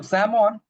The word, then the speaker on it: salmon: So, Samon is the right pronunciation for this fish.